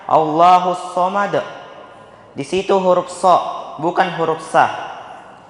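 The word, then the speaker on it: الله الصمد: allahusad di ayat ini terkadang ada orang yang membaca allahusad padahal yang benar allahus Somad di situ huruf bukan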